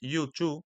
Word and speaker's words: U2: de palabras, ya que U2 se pronuncia en inglés you to, lo que significa tú también.